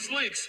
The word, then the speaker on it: Slicks: He gonna say my name's Slicks, not Slick.